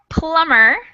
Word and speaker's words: plumber: right the next one plumber you guys all got it right has that silent b in it which is kind of